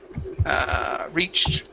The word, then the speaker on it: reached: Reached, right here. So T ending. Make sure you pronounce that T.